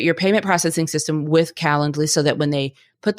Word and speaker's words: Calendly: that you understand that I am saying calendly it's not spelled like calendar it's c a l